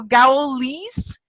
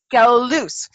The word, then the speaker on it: Gouweloos: So Gouweloos? Gouweloos.